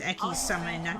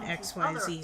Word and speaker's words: XYZ: according to my son digi is pronounced ecky xyz summon i've heard both in the official series i'll destroy eternal soul